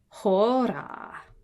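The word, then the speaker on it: ὥρα: Of course, those rough breathing marks are what makes it have an H sound.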